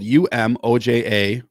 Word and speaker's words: Umoja: Number one, and this is spelled UMOJA, Umoja, means unity, to strive for and maintain unity in the family, community, nation, and race.